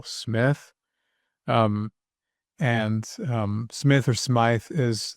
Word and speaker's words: Smyth: Some people pronounce it Smythe, but I'm pretty sure that pronunciation is still Smith.